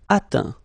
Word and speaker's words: atteint: Atteindre, atteint. Éteindre, éteint. Feindre, feint. Peindre, peint. Teindre, teint. Okay, as usual, final T not pronounced. Atteint, éteint, feint, peint, teint.